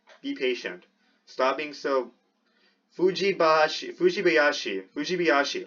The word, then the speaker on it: Fujibayashi: So I keep saying Fuibasha, even though it's Fuibashi. You can clearly see the I there.